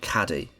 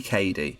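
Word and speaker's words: Cady: like constantly being called caddy her name is spelled phonetically it's clearly Katie why would anyone call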